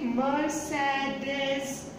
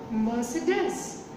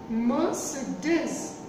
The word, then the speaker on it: Mercedes: Some people say Mercedes. It is not Mercedes. The correct pronunciation is Mercedes. Mercedes. Mercedes.